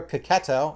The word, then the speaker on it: Checchetto: also but it's it's drawn by uh marco cacato that's how you pronounce that and there's a backup story with